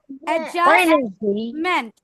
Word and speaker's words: adjustment: Adjustment. Don't pronounce this D later.